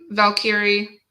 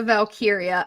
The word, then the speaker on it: Valkyria: Um, Valkyrie. Is that how you pronounce it? Lyra Valkyria. I have a Yeah. really hard time with it too. Because I just want to say Valkyrie, like.